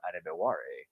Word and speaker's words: Adebawore: Yeah, his name is fun to pronounce once you get it, because it's Adetamiwa Adebawore.